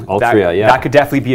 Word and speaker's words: Altria: Well, we were all talking about, was it Altria? I keep getting that name wrong. Altria, yeah.